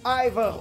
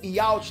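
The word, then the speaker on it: Yhwach: Mais uma vez, ou Ivar ou Yalt, tanto faz a pronúncia que você usa.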